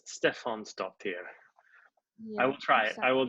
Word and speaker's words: Stefánsdóttir: hi earnest hi now am i pronouncing your name right err this hair this Stefan so dear please correct me it's pretty good hair this Stefan stopped here I'll try it I